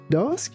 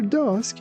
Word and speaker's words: dusk: After dusk, Hannah went to catch fireflies in the park. Here again, be careful not to pronounce this word like dusk. It's dusk, dusk.